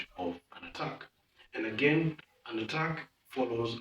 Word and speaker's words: ATT&CK: For the attack, the name attack is spelled quite interestingly. We have an A, double T, then an ampersand symbol. Ampersand, for those who are not in IT, is the and symbol, the and symbol.